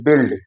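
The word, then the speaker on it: build: जब यू आई के बाद ई डी एल टी आता है, तो उच्चारण ई होता है। जैसे बिल्ड, यू आई के बाद एल डी आता है, तो ई का उच्चारण है बिल्ड। गिल्ट माने अपराध करना, बिल्ड मीन इमारत बनाना है।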